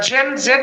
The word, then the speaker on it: Gen Z: এই জুম জি, আচ্ছা জি আবার একটা ব্যাপার আছে, না উচ্চারণের ব্যাপার আছে। এটা আমেরিকান ইংলিশে এটাকে বলে জি, হ্যাঁ, কিন্তু এটা যদি ধরেন ব্রিটিশ ইংলিশ হতো তাহলে জুম জেন জেড বলা উচিত ছিল, জেন জেড বলা উচিত ছিল।